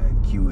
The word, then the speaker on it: Kew: This is queue area. K-E-W, please. That's how Q is spelled.